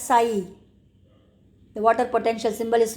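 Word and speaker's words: psi: given in the paragraph that is pronounced as psy the water potential symbol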